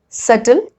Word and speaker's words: subtle: And rule number 2, B is usually not pronounced before T. Like in these examples, det, debtor, doubt, doubtful, subtle, subtleness. Okay, so you have to just look at these combinations and remember that you're not supposed to pronounce B.